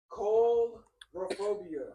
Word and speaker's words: coulrophobia: Coulrophobia. I'm gonna spell it out.